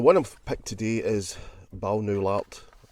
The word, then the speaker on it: Balnowlart: i'm picked today is bow new lot as i pronounce it bal no lot a mansion house it